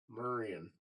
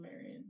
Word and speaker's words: Marion: Yeah, people Marion. They do like a U instead of an AR.